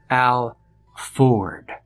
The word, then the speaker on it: Alford: It's pronounced Alford, like the cars.